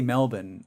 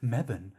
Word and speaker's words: Melbourne: Yeah, but it's like Americans, like some of them that are like they'll say Melbourne, like they'll pronounce the whole thing. But then there's others that like they're like, no, it's not Melbourne. They say it Mebane.